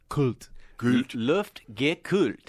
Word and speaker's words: Luftgekühlt: So 3 syllables, Luftgekühlt. Luftgekühlt.